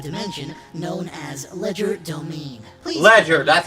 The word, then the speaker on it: Legerdomain: Please Ledger, that's how you say it.